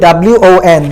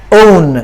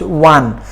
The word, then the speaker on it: won: W-O-N. This is the past form of win, but it should not be pronounced own. It should be pronounced won.